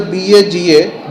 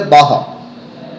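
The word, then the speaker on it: Baja: it out, the BAHA, though it is mentioned as the BAGA, JA, you have to pronounce it as a BAHA.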